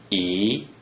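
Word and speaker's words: 一: When the digit 1 is in the first green circle position, without any other digits, it is pronounced E, E, E is the second tone.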